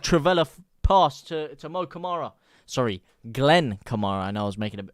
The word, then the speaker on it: Kamara: it Mo or Glen Kamar it is Glenn Kamara obviously leads used to be linked with linked with moara spelled with a c not a k some of